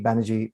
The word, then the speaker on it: Banerjee: Banerjee rhymes with energy, so that's nice.